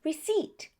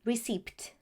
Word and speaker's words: receipt: That's why we say doubt, debt, or for the PT combination, receipt. Never receipt. Mistake number 4.